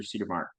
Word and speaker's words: Cedermark: Cedermark. Did I pronounce that correctly?